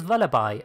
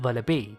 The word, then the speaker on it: Vullaby: Vullaby's name is clearly a combination of vulture, the animal it's based on, as well as lullaby, which are often sung to children, hence its correct pronunciation is Vullaby and not Vullaby.